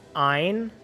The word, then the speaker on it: Ein: Wait, you're telling me it's pronounced Ein? Nick, you see it? Ein, like Einstein?